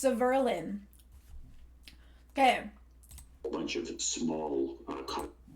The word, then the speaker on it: Severlin: His name is pronounced Severlin.